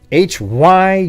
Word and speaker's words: Hyundai: be h-o-n-d-a-y instead it's h-y-u-n-d-a-i man that is one of the weirdest things I've ever seen what's the correct pronunciation there it's Hyundai instead of Honda okay whatever no just no Hyundai like you know all right anyways